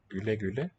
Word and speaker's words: güle güle: Güle güle. The two dots over the U letter tell me to pronounce it Ü, and my tongue is forward and the lips are round. Ü, güle güle.